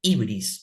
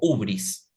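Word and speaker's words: hybris: los griegos le llamaban la ibris o ubris se puede pronunciar de las dos maneras Qué es el pecado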